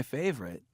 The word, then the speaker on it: favorite: Notice how some words can have silent syllables. 1. Favorite. 2. Generally.